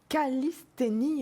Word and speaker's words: calisthénie: Exit donc les abonnements au fitness grâce à la calisthénie. Est-ce que je prononce juste ? Oui, c'est ça.